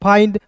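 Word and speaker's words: find: जैसे मैंने बोला यहां पे किसी वर्ड्स के अंत में आई एन डी रहेगा। उसका उच्चार आई के रूप में करेंगे। तो एफ का फ आई एन डी का उच्चार आई के रूप में फाइंड माइंड काइंड बाइंड।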